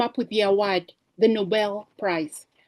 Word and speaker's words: Nobel: Noble is the act of moral, having high standards. Nobel is after Alfred Nobel, of who came up with the award, the Nobel Prize, pronounced Nobel, not noble.